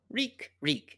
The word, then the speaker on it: Reek: Reek. It rhymes with weak.